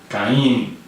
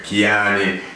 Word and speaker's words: Ky-Enie: I was listening to hear how you pronounce it, because a lot of people have the more twist. I just have to wear Ky-Enie, Ky-Enie, so you got it right.